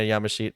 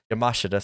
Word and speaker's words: Yamashita: charlie evans and rina yamashit uh yamashita sorry i've been always saying her name wrong yamashita um but i